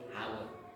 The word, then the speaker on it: hour: सुरुदेखि सिक्ने आवर यसलाई हावर भनेर पढ्नु पर्ने we shouldn't pronounce this word hour we should pronounce it hour how do you pronounce